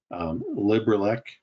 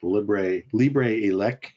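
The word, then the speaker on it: LibreELEC: Raspberry Pi OS, which is the new name of Raspbian, Librelec, which is, or Libre Elec, depending on how you want to pronounce this, which is a Kodi-based entertainment center.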